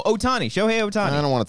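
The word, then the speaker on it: Ohtani: Olaf is the Pokemon it's like utani no Otani sh Otani I don't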